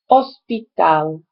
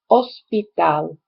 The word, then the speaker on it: hospital: and you know that the h is silent in spanish but it's not for us in english so we tend to